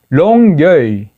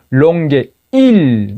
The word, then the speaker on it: Longueuil: 그래서 그거를 제가 롱게일이 아니고 롱게이다. L 끝에 발음이 안 난다.